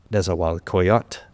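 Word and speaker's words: Nezahualcoyotl: For non-Nahuatl speakers, just every time you see a TL ending, forget the L. Just pronounce the T and you'll be good. Teot, Nezawalcoyot.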